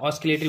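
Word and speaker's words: oscillatory: ठीक है, आप ऑसिलेटरी बोल सकते हैं, ऑसिलेटरी बोल सकते हैं, एसिलेटरी भी बोल सकते हैं। तो जो आपको बेटर लगे आप बोल दें, क्योंकि इसमें एस में हम साइलेंट भी मान लेते हैं, सी भी साइलेंट मान लेते हैं।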